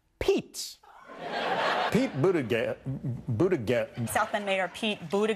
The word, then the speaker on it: Buttigieg: how do you pronounce this guy's name it's pronounced Pete Pete better get Buddha get himself and mayor Pete Buddha get Buddha gas